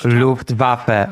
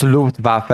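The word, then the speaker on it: Luftwaffe: defending a Scottish Luftwaf. Okay, it's Luftvaf. It's not Luftwaf.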